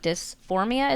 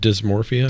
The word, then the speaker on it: dysmorphia: to pronounce it, but the body dysphoria, is that what it's called? Dysmorphia. Dysmorphia. I always say it wrong.